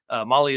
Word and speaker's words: Mahle: And for all you podcast listeners out there, Molly is spelled Mahle.